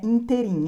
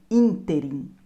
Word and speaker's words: ínterim: Apesar das pessoas falarem rúbrica, a pronúncia correta é rubrica. O mesmo acontece com ínterim. Não é interim, é ínterim.